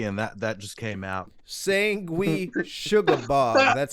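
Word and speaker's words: Sanguisugabogg: Sangui Sugabog.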